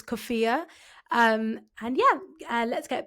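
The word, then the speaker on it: kufiya: gonna say this wrong, a kifa, a traditional Palestinian checkered scarf around her waist like a skirt. Hi everyone, it's me from the future. I'm just here to uh correct my pronunciation. It's Kofia.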